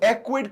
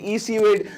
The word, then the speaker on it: Ecwid: call it awkward because some people call it easyweed so i don't know what do you people call it but i just searched it on google and ecwid is the right pronunciation so we are going